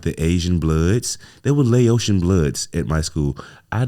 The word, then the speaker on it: Laotian: And yeah, Laotian would sound like what you'd want to say, but Laotian is the proper way to say it.